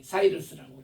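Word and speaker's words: Cyrus: CY 그리고 P에 사이러스라고 그렇게 얘기해요. 사이러스 RUS 해서 사이러스 혹은 키프러스 이렇게 발음을 어 일반 백과 사전에는 하는데 이분이 바로 고레스거든요.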